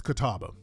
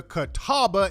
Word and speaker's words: Catawba: The Catawba, that's what it's Catawba. This is the first step towards rectifying the wrongs perpetuated against the Catawba Indian Nation and addressing the historical inequities they face.